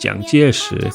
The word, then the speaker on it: 蔣介石: In Mandarin, his name is pronounced Jiang Jieshi, and the modern pinyin romanization looks completely different.